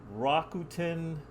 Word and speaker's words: Rakuten: So how do you actually say it? Rakuten. Rakuten? Rakuten Golden Eagles.